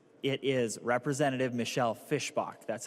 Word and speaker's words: Fischbach: to tell you it's it is Representative Michelle Fischbach.